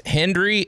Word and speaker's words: Hendrie: But hey, so it's Hendrie, H-E-N-D-R-I-E. I always spell it because it's easy to sound like Hendrie.